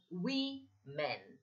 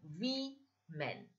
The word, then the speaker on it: women: First thing, we should get the pronunciation right of this particular word. Woman is singular and we men.